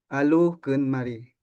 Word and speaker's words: Adukunmari: Adukunmari, que se pronuncia Alukunmari.